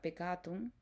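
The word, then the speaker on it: peccatum: El pecado proviene de la palabra en latín que se pronuncia pecatum, que es una falta, es un tropiezo, es un error, es una transgresión.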